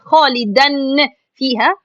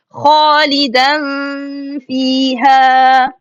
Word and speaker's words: خالدا فيها: So it will be خالدا فيها, خالدا فيها, خالدا فيها, like this. It's an easy, alhamdulillah, but make sure from these tricks it's not خالدا فيها or it's not خالدا فيها, because sisters do